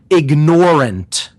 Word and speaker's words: ignorant: they're ignorant of it let's get the pronunciation of that word right i'm going to stop saying using the pronunciation ignorant and and totally conditioned myself to to constantly saying they are ignorant because of the emphasis of ignore the population who would